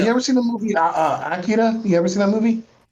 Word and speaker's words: Akira: It's about Akira, but it's pronounced Akira.